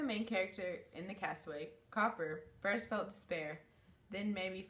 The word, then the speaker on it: Cowper: uh literally literary analysis William cowers is how you say his name copper copper I always say Coop power okay just William